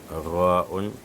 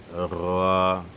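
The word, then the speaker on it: راء: Et certaines personnes, ils font souvent l'erreur lors de la prononciation de Ra'un et Ya'un. Certains viennent et disent ici Ra'yun. Ra'yun. Avec le Y, c'est faux. Il ne faut pas mettre Y ici.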